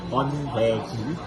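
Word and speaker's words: 번데기: my pronunciation, Min? This is Hondei.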